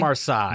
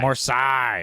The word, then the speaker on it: Marseille: Marseilles. Marsai. Marsai.